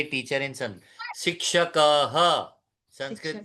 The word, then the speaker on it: संस्कृत: सही शब्द है संस्कृत।